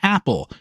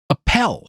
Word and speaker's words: Appel: pronounced his last name Apple, but he spelled it a pel. Now, I've known people by that surname and they pronounced it appel emphasis on the second syllable.